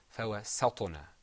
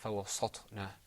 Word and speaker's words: فَوَسَّطْنَا: then right after it there's a letter with you're going to purse your lips. There's harf muraqqaq and then harf mufakham. So that's kind of hard. Okay? But the right pronunciation is فَوَسَّطْنَا. Okay, not فَوَسَّطْنَا.